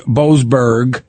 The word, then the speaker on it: Boasberg: him, to saying, and one final point, Judge Boasberg, I'm saying it right?